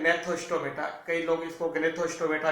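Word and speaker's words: Gnathostomata: यहाँ जी साइलेंट रहता है इसलिए अपन बोलते हैं नेथोस्टोमेटा।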